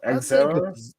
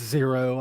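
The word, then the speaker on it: Xero: Is it Zero or X Zero? It's Zero. I think it's just spelled with an X.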